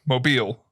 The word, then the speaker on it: Mobile: You guys are in Mobile, right? No, Mobile. But it's spelt mobile.